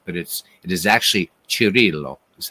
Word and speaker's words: Cirillo: Now, everybody says it's Jeff Cirillo, but actually, if you say it in Italian, it's Cirillo. But we'll say Cirillo for all the Americans out there, all right? But it is actually Cirillo is how you say his name.